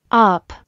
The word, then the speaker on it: up: 喉の奥の方を意識して、あ、あ、 cut、あ、あ、 up。